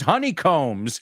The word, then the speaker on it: honeycombs: hair because they use Honeycombs oh and that b is silent all right folks time